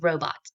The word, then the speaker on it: robot: Our syllable word, our multi-syllable word is robot. Robot. We put our syllable break in the middle after the first syllable, ro. I hear a long vowel sound, O. It's only spelled with one vowel letter.